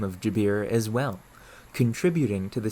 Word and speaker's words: Jabir: under the name of Geber as well, contributing to the pseudepigraphic tradition around him. But of course, they totally mispronounced his name, leading to a distinct pseudepigraphic tradition around the name Geber, which contains some of